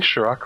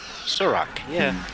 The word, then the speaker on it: Surak: Am I pronouncing Shirak right? Shirak? Surak, yeah.